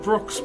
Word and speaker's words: Broxh: Broxh, brother. So the H is silent. It's just there because Broxh without the H was taken.